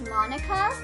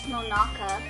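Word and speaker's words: Monaca: of hope monica excluded you know they've always pronounced her name as monica but i always like read it as monaka but i'm guessing it's monika since they're pronouncing it monica during my time at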